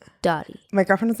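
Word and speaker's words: Doti: Her name is Dottie by Francis, but low-key people always think it's called Do It by Francis.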